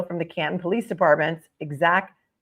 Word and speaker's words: Exacq: The purpose of my trip was to allow me to extract surveillance video from the Canton Police Department's Exact Vision DVR system, and that is spelled